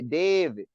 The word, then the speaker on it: David: You got to say David. David. Right. Just like how we say baby. You know what I mean? You got to say David. So my real name is David.